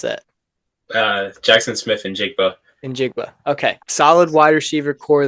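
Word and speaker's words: Smith-Njigba: How do you pronounce that? Jackson Smith and Njigba.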